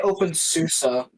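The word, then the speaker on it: openSUSE: You didn't you didn't leave out the e, which is not silent in susi. I say open susa.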